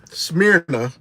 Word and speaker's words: Smyrna: I'm here in Atlanta, Smyrna, to be exact.